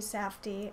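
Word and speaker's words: Safdie: he says josh and benny safty i believe is how you say their names uh the directors of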